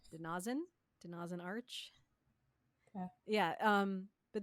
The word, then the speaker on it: De-Na-Zin: the oh my gosh it's the name and the pronunciation is denazen denin Arch yeah um